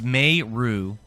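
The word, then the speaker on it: Meru: It's May Rue.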